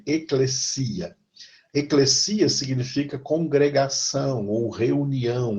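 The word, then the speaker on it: ἐκκλησία: Cuidado, que tem muita gente que fala em eclésia. Né? Eclésia é uma pronúncia errada. Uma pronúncia errada. Tá? A letra S em grego nunca tem som, às vezes em português. Tá? Então é eclesia. E não é eclésia, e o acento não é no clé, eclésia, o acento é no i, é eclesia.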